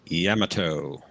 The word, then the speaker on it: Yamato: USS Yamato that's right I believe the Japanese pronounce it Yamato Yamato and uh Tokyo Trekker